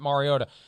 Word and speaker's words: Mariota: to play and they're going to unleash Marcus Mariota and thank you for pronouncing it Mariota I I don't want to name names but